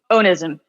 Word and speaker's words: Onism E: Onism.